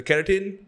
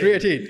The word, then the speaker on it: creatine: So, again, the keratin, the No, not electrolytes. keratin. Keratin is hair. The keratin is here. Creatine.